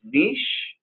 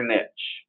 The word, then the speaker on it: niche: Because is this niche or niche? Because I call it niche though I've heard niche.